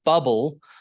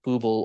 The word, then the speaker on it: bubble: So like in bubble, the reason that bubble has two B's is because that if it had just one B, it would be booble or buble if we're talking about the singer Michael Bublé.